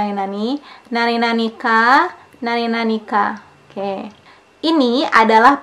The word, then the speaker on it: なになに: Biasanya dibacanya nani-nani.